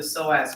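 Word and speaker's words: psoas: have to know the soaz minor it's a silent P you do not have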